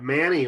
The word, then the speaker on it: Mani: Because if you took M-A-N-I and put Quinn on the back, it would be Manny.